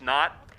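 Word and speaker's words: Hnat: on the roster where his name is actually spelled H-N-A-T, but they put in parentheses, Knott.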